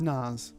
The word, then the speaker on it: Nas: do you say his name i think it's nas naws n-a-s yeah uh well long live hip-hop uh